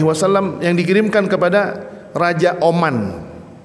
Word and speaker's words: Oman: Ingat nih, Raja Oman. Kalau Bapak-bapak bacanya Amman. Amman pakai alif eh maaf pakai fathah. Yang dimaksud dengan aman itu adalah Yordaniah. Ini segitu melesetnya nih, Pak. Amman dengan Umman.